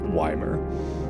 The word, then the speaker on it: Ymir: No, I have a bone of Weimar because there's a tiny ass town in the center of South Central British Columbia that is spelt Y-M-I-R, and they insist on calling it Weimar instead of Ymir.